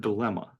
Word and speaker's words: dilemma: And the silent N? Like DILEMMA is the way it's spelled. Right. But I had to remember that. I had to memorize this as a spelling word in school, that it was DILEMNA. There's a silent N in there.